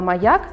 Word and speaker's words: маяк: слову маяк для начала разделим слова маяк на слоги маг як свой маяк два слова поставим ударение моя ударение падает на второй слог составим звуковую схему первом